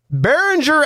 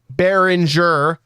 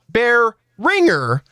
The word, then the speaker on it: Behringer: it over SP in your pronunciation of Berenger bérenger as you pronounce it is correct bérenger not bear ringer as SP pronounces it now I do understand